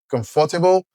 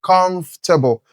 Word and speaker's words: comfortable: The stress is also on the first syllable, comfortable.